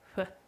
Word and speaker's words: pho: But Fifi and Bridger think it's huh. So I'm going to go with that. Huh. It's like Fuji.